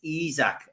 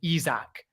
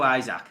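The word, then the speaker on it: Isak: before we start because it doesn't really work with izak so are we allowed to mispronounce it in order to get the song because it is impact let's go eyes let's go isaac we got to go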